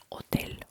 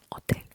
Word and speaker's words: hotel: Because H is silent. It is silent. If it's the first letter in the word, or it is between vowels, we always ignore it. Okay. For example, hola or hotel, hotel.